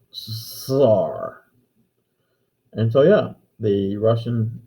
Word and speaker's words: czar: the problem is though russians have a difficult time pronouncing the double s sound as in buzzer or geezer or caesar it comes out sar and so yeah the